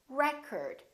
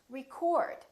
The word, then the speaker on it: record: another word this word if it's a noun it's pronounced as record the first syllable is stressed record this o changes